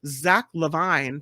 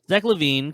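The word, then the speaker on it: Zach LaVine: This is Chicago Bulls All-Star Zach Levine. Did I say it right, Albert? Zach Levine, close enough. Levine.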